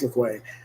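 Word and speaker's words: Louque: The group includes General Mazovia, a student of dead languages, Armand I think it's Lequay, pronounced Lequay, portrayed by Dean Jagger,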